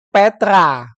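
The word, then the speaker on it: Πέτρα: menjadi us yang saya beri warna biru ini bacanya Petra diterjemahkan dalam bahasa Indonesia juga bisa menjadi Petrus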